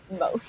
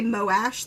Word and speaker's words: Moash: Mosh. Mosh. Oh yeah, because most people say Moash, like they separate the O and the A, but I just kind of smoosh it.